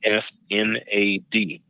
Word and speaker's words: isnad: lot more um there's another definition called um it's spelled is n a d is n a d that's an isnad isnad